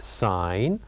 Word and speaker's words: sign: said that the word sign has one silent letter which is G so here in this case the g is silent we don't pronounce g we only write it here also another example